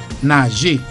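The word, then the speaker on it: najé: M W E N S moins 5 moins yon ka bay 4 nager N A J E pronounced as A nager I ka nager Nanj.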